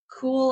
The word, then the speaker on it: Kuhl: i sold a like cool i think is how you say a kuhl fleece jacket uh-huh i